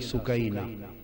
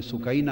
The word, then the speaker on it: سکینہ: لخت جگر شہزادی سیدہ سکینہ، اصل نام ان کا عربی وزن میں سکینہ ہے، عرف عام میں سکینہ چلتا ہے، اصل لفظ سکینہ۔ سیدہ،